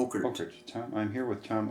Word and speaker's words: Ockert: Okert. Okert.